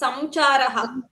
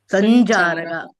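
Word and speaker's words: सञ्चारः: We are not going to say it as samcharaha. Sanjaraga. Because of the cha, this Anuswara got changed into Ij. Sanjaraga.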